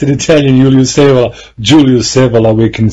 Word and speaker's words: Evola: No, you pronounce it well. I know, it's an Italian, Julius Evola.